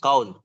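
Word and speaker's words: كون: Perhatikan kaun. Dibaca sebagai kaun.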